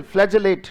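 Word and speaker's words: flagellate: अब इसमें ग साउंड नहीं है, क्या है? ज साउंड है।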